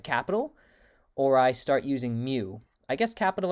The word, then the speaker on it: mu: and then here's um mu pronounced like mu or like m-e-w like the cat um and these are